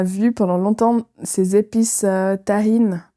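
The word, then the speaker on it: Tajín: Avec ma cousine Marilyn, on a vu pendant longtemps ces épices tahine. Pas marocain, mais mexicain. Pas tagine du Maghreb, okay. Mais ça s'écrit T-A-J-I-N.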